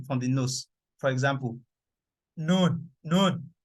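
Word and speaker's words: نون: For example, noon, noon. For me to pronounce noon, like it has to come out through my nose.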